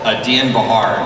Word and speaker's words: Dean Bahar: Dean Bahar is how you pronounce it, yeah.